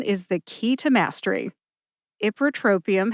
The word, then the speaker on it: ipratropium: the key to Mastery ipratropium has five syllables IP like hip R like rough draft tro like Trojan like